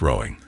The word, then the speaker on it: Roding: Waters to the tames roding was sometimes pronounced rowing a name going back to Anglo times when the river was known as froda those early English speakers pronounced the letter d as th it's quite remarkable how